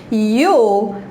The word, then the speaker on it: you'll: things, as coisas certas, you'll be fine. E esse you'll deixa as pessoas um pouquinho confusas de como é que pronuncia, mas é o you com o L só.